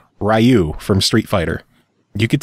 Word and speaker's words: Ryu: Ryu from Street Fighter. You could tell me it's Ryu all you want. I don't give a fuck what you tell me. His name's Ryu. Is it Ryu?